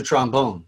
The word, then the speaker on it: trombone: you don't play the trombone or the clarinet you play the trombone and the clarinet there's a first syllable emphasis on these you play the trombone the